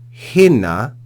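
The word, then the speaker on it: ἵνα: Al hina, notice the rough breathing, al hina, marturese, peri tu photos.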